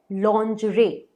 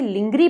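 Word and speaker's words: lingerie: ही simple है, but word है लॉन्जरे, लॉन्जरे। अब कई लोग इसे लिंगरी पढ़ते हैं, जो कि बिल्कुल बिल्कुल गलत है, प्लीज यूज मत करिए। इसका करेक्ट प्रोनाउंसिएशन, करेक्ट उच्चारण है लॉन्जरे।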